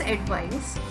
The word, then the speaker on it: advice: This advice has pronunciation of ice, I-C-E.